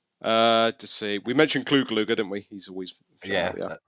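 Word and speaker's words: Clu Gulager: up yes uh to see we mentioned clue gluger didn't we he's always yeah now you pronounced it right yes that's it Robin rer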